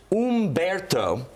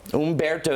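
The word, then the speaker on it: Humberto: trip some people up it's not Alberto it's Umberto Umberto is the correct pronunciation for that one and the last one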